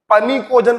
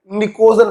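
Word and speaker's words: pnictogen: कभी कभी कुछ लोग इसको पनिकोजन पढ़ते हैं, भैया अंग्रेजी है, पी साइलेंट होता है, निकोजन पढ़ते हैं।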